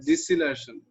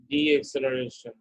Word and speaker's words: deceleration: constant d acceleration deceleration you say deceleration not the acceleration say what constant this part c is constant hello career pronounce again constant de-acceleration no no deceleration say